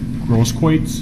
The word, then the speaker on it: Grosskreutz: Grosskreutz.